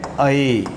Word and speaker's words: ऐ: यहां उच्चारण है ए, बिल्कुल ठीक है, लेकिन इसका उच्चारण कहीं कहीं हम देखते हैं कि आई आई इस तरह का उच्चारण करते हैं, वो ठीक नहीं है। इसका जो उच्चारण है वो है अए, ये ओ है, बिल्कुल